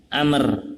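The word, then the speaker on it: عمرو: harokatnya ketika ada tulisan begitu ada baunya berarti bacanya Amer amrun amrun atau amron tapi kalau amron ya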